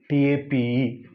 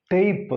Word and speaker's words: tape: Then this is a tape. This is a diphthong. AI. This is AI as in play.